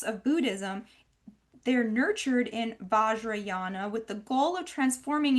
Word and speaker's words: Vajrayana: So, which is what apparently was studying this weird Vajrayana. Is that how you pronounce it? Yeah. Vajrayana, yeah.